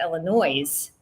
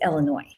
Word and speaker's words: Illinois: However, Illinois is not pronounced Illinois; it's Illinois. Illinois, and the S is dropped off of that name, I should say.